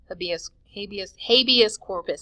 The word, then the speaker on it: habeas corpus: Habeas corpus, that's how you say it, habeas corpus.